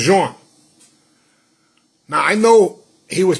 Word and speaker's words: Jean: He said, it's no Gene, it's Jean.